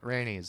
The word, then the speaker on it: Rhaenys: Rhaenys is, how do you pronounce her name? Rhaenys? Rhaenys.